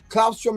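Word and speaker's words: claustrum: Clausrom is spelled C L A U S T R U M.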